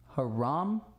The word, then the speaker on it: Haram: It's pronounced the same. Haram. Haram. Also kind of softer. So like, haram. Haram! Haram. Haram! Haram. Don't elongate.